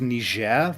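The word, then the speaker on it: Niger: It's pronounced Nishair.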